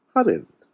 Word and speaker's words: Hapiland: You can slow it down and call it Happyland. But it's Hopland.